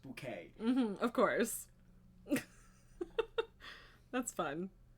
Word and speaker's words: Bucket: was very Whitey toy she insisted that her name be pronounced bouquet mhm of course that's